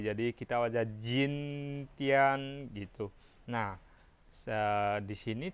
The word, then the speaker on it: 今: sini t, di sini j, jadi kita baca jin tian gitu. Nah, di sini cara bacanya yang benar adalah ji di sini dibaca ci, oke?